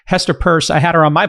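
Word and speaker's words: Peirce: It's not Pierce. Um, you can't pronounce the word Pierce. Purse.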